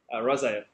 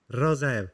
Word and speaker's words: Rozaev: Rozaev. Rozaev.